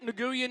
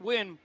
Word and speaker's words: Nguyen: It looks like Nguyen. It's pronounced Wynn.